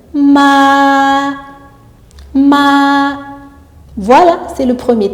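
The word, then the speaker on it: 妈: Le temps est sur la voyelle A et on ouvre bien la bouche et on insiste un peu sur la voyelle A, ce qui nous donne ma.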